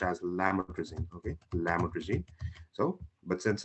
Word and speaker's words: lamotrigine: what it is so it's not it's not pronounced as laymor greasing it's it's pronounced it's pronounced as lametrising okay so but since it's so lame that